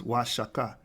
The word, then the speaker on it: Oaxaca: The correct pronunciation of Oaxaca is Oaxaca, denoting wages are higher.